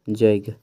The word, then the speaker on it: जैग: खौठा में य के जगह ज का प्रयोग होता है। जैसे हमीन कहे यज्ञ, हिंदी में कहे ना यज्ञ, खौठा में भैया तो जैग की भेते जैग, ज ई ग।